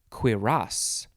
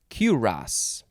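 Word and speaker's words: cuirass: right maybe i did boo gunk next is quiras or kuras c-u-i-r-a-s-s noun from the 15th century one a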